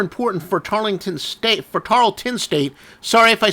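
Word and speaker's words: Tarleton: people made uh comments making fun of my pronunciation anyway if I do say uh tarlington State sorry Tarlton State regardless of how we pronounce it it's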